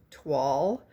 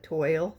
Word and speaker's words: Toile: series paper called Autumn Twall. I've always called it toil, T O I L E, but it's French and we we don't pronounce it like they do.